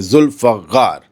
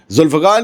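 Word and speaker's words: Zulfiqar: General सारी ने यह कहा कि जुल्फकार उनका ही प्रोनाउंसिएशन है। जुल्फकार जुल्फकार ने निशाने को बिल्कुल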